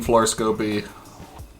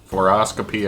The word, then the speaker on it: fluoroscopy: crawls around skills hacking floor scopy fluoroscopy i think it's actually pronounced voice imitation 3d modeling